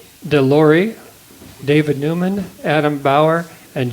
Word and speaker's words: Delorei: Donna Del Roy, Deloy, Delorei, Delorei, David Newman, Adam Bower, and Jai Jagdish.